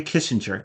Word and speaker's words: Kissinger: I just, um, oh, the G is pronounced like a J. Henry Kissinger.